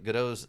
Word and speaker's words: Godot: And props to you for pronouncing Godot's name properly. Yeah, it's like Gal Gadot. That's how I know how to pronounce that name. How do most people pronounce it? Godot, I guess? Because, I mean, a lot of people mispronounce, Gal Gadot's. Yep. Oh, okay. Yeah, no, I only know it because of her. That's the only reason I know it. Otherwise, I probably would pronounce it Godot instead of Godot.